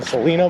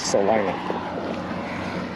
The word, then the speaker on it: Salina: Which I still feel like pronouncing Salina, by the way, but I've been told it is Salina.